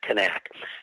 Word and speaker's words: Knaak: I find myself going back and forth between nak or connect that's just because how long I've